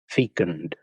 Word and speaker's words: fecund: Fecund. Fecund. Sounds kind of nasty to me, kind of like fecal. Fecund, fecal. Same first syllable, anyway.